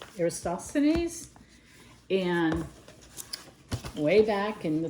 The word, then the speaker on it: Eratosthenes: So this is about, I always say his name wrong. It's Eratosthenes.